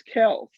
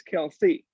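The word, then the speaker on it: Kelce: name saying that uh the folks have been mispronouncing it it's actually travis kells not travis kelsey as people have been calling it it's actually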